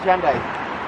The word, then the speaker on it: Hyundai: How do you pronounce it, Hyundai? Call it Hyundai.